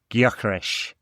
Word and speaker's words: Gyökeres: In Hungarian, it sounds a bit more like Gyökeres. In Swedish, there's more emphasis on the Y than the G, but yeah, it seems anyway.